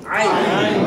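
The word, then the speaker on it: عين: তাহলে হয়ে যাবে কি আইন আইন নাম কি হবে আইন আবার বলেন আইন এক্ষেত্রে এই হলকের মধ্যে একটু আইন হলকের এই যে মাঝখানের মধ্যে একটু প্রেসার দিতে হবে তারপরেও ছেড়ে দিবেন আইন আইন আই আইন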